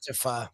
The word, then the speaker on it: pho: Is one of those tricky food words because it's spelled PHO, pho. Yeah, but it's I always thought it was pho. It's pronounced pho.